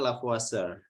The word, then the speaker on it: Lavoisier: Prancis namanya kayak gini tulisannya tulisannya lavoisier Tapi bacanya la puasa ini dia meneliti tentang